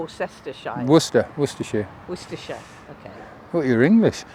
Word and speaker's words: Worcester: you say is it Worcester or is it warer Worcester werer werer okay what you're English anyway so right